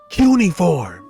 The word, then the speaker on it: cuneiform: Chuck, it's pronounced cuneiform.